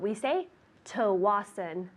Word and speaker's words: Tsawwassen: That's TSAWWASSEN. Pronounced Tsawwassen. You ready? I think so. Let's see. Yeah, good. TSAWWASSEN. Very good. That is difficult. We say Tsawwassen.